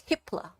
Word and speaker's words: Hippler: timeline is this yeah you got be careful how you say it it's hipler hipler h i p l